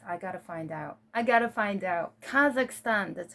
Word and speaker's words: Kazakhstan: People from Kazakhstan, I can't pronounce. I gotta find out. Kazakhstan.